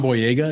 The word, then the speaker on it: Boyega: John Boyega, is that how you say his name?